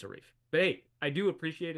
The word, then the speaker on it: Arif: was growing up so the way I pronounce my name is Arif if you see somebody else with the spelling of my name probably pronounce it a little bit differently but for me it's a reef but hey I do